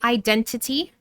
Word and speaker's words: identity: You can say identity, but it's very common in American English to drop the T after the N in an unstressed syllable.